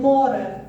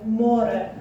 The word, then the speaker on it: море: Море. And those like lines on the top is just a stressed syllable. So грає, море.